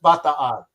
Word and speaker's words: Bataan: So for me, and it's the USS Bataan. Even though we're going to pronounce it incorrect, it's the Bataan.